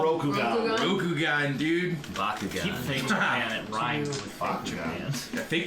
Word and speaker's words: Rokugan: Rokugan. Rokugan, dude. Keep Bakugan. fake Japan. It rhymes with fake Bakugan.